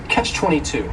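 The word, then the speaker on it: Catch-22: favorites is Catch 22 this is two words it's a compound noun the word catch is just one syllable and then 22 is three syllables and the stress is on that final syllable Catch 22 the word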